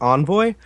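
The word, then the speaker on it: Envoi: and I think I I think it's pronounced Envoy um it's e NV o i um and the song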